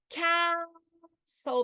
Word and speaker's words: castle: Consonant LE will occur at the end of a syllable that's unaccented. In other words, I will say castle.